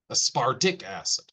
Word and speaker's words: aspartic acid: So whenever they said, or whenever someone says aspartic acid, that RT sounds almost like the letter D, aspartic acid.